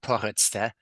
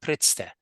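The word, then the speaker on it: פּריצטע: Yeah, the word poritz and Susan read it both as poritzte and pritzte, and you'd expect poritzte, but according at least to the Bochner dictionary, it's actually pronounced pritzte, wife of a landowner or a noblewoman.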